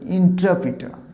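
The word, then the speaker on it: interpreter: ইন্টারপ্রিটার না, এটা ইন্টারপ্রিটার না, এক্সাম এর সঠিক উচ্চারণ হবে ইন্টারপ্রিটার, ইন্টারপ্রিটার, শেষে আরটাও কিন্তু সাইলেন্ট হবে, ইন্টারপ্রিটার।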